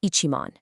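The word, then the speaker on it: 一万: But the second you hit 10,000, you must add ichi. It is always ichiman, never just man.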